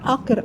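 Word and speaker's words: hacker: що таке таке слово акер, акер, акер, акер. Думаю, що ж це за акер? Вказується це на італійській мові це буде хакер. Розумієте? В Італії оця буква англійська H не вимовляється. Вона є глуха.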